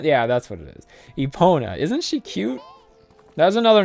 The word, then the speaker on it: Epona: wait, what's the correct pronunciation? Epona? Yeah, that's what it is. Epona.